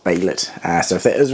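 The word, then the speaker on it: Behelit: If I did get it wrong, I do apologise, but I'm pretty sure everyone said it's pronounced Baylet.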